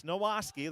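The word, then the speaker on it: Nowacki: checked with him and he said no it's nowaski there's an s in there but it's spelled n-o-w-a-c-k-i now the handoff right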